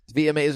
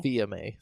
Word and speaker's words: Fils-Aimé: VMA. I always say that wrong. Fils-Aimé. VMA? Yeah, Fils-Aimé. I just said it wrong again.